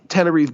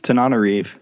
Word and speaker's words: Tananarive: discussing Patient Zero by Tananarive Due with Eric Raglin. I think I pronounced her name wrong. I think it's Tananarive.